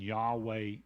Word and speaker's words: Yahweh: translated the gr the the Hebrew word that is spelled in English y-h-w-h which we pronounce as Yahweh or transliterate as Yahweh